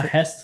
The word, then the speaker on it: Hest: heist or a Hest. A Hest. That's Oh. how you say it.